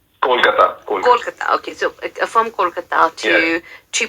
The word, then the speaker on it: Kolkata: Is it Kolkata or Calcutta? Kolkata.